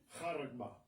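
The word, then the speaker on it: χάραγμα: pronounce it. Kharagma.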